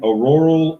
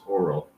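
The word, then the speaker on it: Auril: jurist deuteronomy since then auroral uh oral um i always say your name wrong but it's oral oral the frost maiden has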